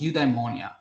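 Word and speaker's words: eudaimonia: Uh, udeimmonia, uh, spelled as ye, uh, eu d a i m o n i a. It's udeimmonia.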